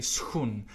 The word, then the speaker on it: schoen: Of course, if the SCH is in the beginning of the word, like the word for shoe in Dutch, then you would say schoen.